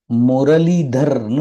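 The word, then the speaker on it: मुरलीधर: லி த ர் முரளிதர் முரளிதர்னு படிக்கலாம் முரளிதர் அப்படின்னும் படிக்கலாம் பொதுவா ரூல்ஸ் படி பார்த்தா இத வந்து நம்ம மெய்யெழுத்தாதான் ர் உச்சரிக்கணும் முரளிதர் அப்படின்னு தான் படிக்கணும் சோ முரளிதர் அப்படின்னு சொல்றது தப்பு இல்லை ஏன்னா தமிழ்ல நம்ம அப்படி சொல்றதுனால அடுத்தது ஆ இல் வா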